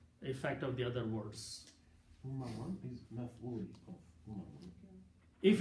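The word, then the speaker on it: أممًا: You stopping there, so pronouncing umama. Two fathas should be pronounced as one alif.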